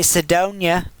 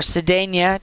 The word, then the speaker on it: Sedona: But that, I've been eyeballing Arizona, actually Sedona, or Sedania, depending on how you pronounce that, in Arizona.